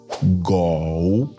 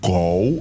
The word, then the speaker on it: 狗: Le mot chien en chinois se dit go. Écoute bien et répète avec moi. Go. Le mot gou est composé d'un seul caractère et se prononce avec le troisème ton. La voix descend puis remonte légèrement.